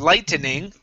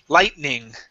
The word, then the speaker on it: lightning: Okay, instead of lightening, lightning.